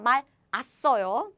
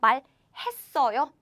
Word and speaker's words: 말했어요: By the way, it's not 말았어요. 아니에요. 말했어요. 말했어요.